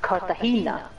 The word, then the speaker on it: Cartagena: Oh, it is pronounced Cartagena.